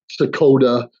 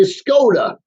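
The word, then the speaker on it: Skoda: k o da a it sounds exactly like it's spelled but more often than not it gets mispronounced so when someone ask me what's my name I say scod Scot SK o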